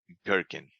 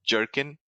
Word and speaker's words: Gherkin: In behavior-driven development, there is something called Gherkin. This is the test cases are written in Gherkin language. Gherkin. Gherkin. It's not jerkin. Don't pronounce it jerkin. Pronounce it gherkin, like G, like a goat.